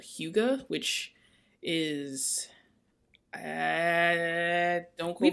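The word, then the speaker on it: hygge: didn't know that but anyways h-y-g-g-e and it's pronounced huga but the idea of that is making your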